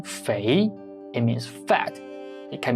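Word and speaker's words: 肥: flying in the sky in the second tone Fei it means fat it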